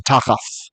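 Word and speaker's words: תחת: us at so so takas is an ancient Hebrew would have been takath a th here that's a th and there's no dot in the ancient pronunciation so takat under ha the har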